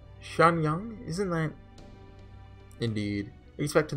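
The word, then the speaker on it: Xianyang: prefecture so i believe x is pronounced sha like sh shanyang isn't that indeed respect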